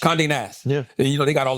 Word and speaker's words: Condé Nast: And I talked about at the time, I think it was Condé Nast. I think I might be mispronouncing that wrong. Condé Nast? Condé Nast.